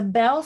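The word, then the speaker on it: Beall: our twenties my friend whose name is pronounced bell but is spelled b-e-a-l-l said we must say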